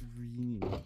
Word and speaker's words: Rini: It's Rini. Rini. Rini. That's what I was wondering. It's like, I don't know how to pronounce it.